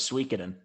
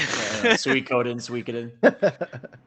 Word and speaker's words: Suikoden: I always thought it was Suikoden. I always mean called it Suikoden. I guess it's Suikoden.